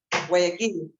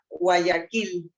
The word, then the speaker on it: Guayaquil: Guayaquil. Well, I can't even pronounce it. Guayaquil? Yeah, Guayaquil.